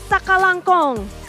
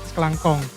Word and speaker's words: sakalangkong: Sakalangkong. Kalau pelannya gitu, kalau cepatnya sekelangkong.